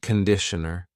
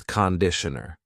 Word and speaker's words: conditioner: Be careful of the pronunciation. It's not conditioner. It's conditioner.